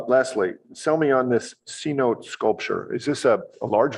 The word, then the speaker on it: cenote: doing that uh lastly sell me on this C note sculpture is this a large vertical shaft through the building uh yeah it's pronounced Cenote um yeah it is um intended it's going